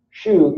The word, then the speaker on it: shu: Shu, rhymes with shoe, means follow.